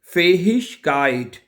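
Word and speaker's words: Fähigkeit: हैं, फेहिशकाइट क्या है?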